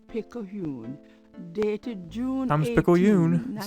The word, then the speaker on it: Picayune: Times Picayune, dated June Times 18, Picayune, that's how we pronounce it.